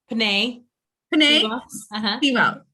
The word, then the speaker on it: Penei Sewell: The next one for me, I would say, was, I don't really know how you say his name, was Penei Sewell? Penei. Sewell.